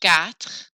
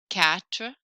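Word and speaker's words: quatre: kind of like catat Q makes a k sound in French Gat if the r sound is hard cat works for now that's fine sank sank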